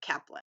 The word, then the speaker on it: Kaplan: You said Chaplan, but I want to make sure we get that right. Kaplan.